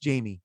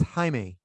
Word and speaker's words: Jaime: But it's not pronounced Jamie. It's Jaime.